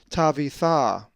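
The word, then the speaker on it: Ταβιθά: A Greek word that has the uppercase tav is tavitha, which is the name Tabitha and is number 5000. The accent is over the final alpha, tavitha.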